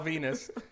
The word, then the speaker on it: Venis: I understood implications of Val Venis in his last name rhyming with penis you know or or